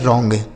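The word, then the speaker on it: wrong: यहां W silent है। आर ओ एन जी तो हो गया रॉन्ग।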